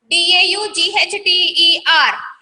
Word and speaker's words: daughter: D-A-U-G-H-T-E-R. G-H-T-E-R is there, but we have to read it as this one, daughter.